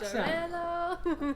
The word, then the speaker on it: Xarello: Parellada, Macabeo, Xarello. That is some sweet pronunciation.